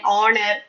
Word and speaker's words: honor: So naturally, the word is pronounced our, honest, then honor, honorable prime minister, honorable president.